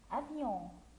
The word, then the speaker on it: avion: Avion, avion. On dit d'abord que O plus N se prononce on. Avion. O plus N se prononce on. Alors, on dit avion, on.